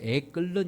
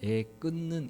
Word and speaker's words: 애끊는: 마음 이런 표현이 있죠 우리가 애끓는 이라고도 이렇게 발음을 하는데 원래는 에 끊는 입니다 얘가 바로 창자를 뜻하는